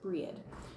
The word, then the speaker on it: Brigid: on the end, and I pronounce Brigid, I pronounce it Breed.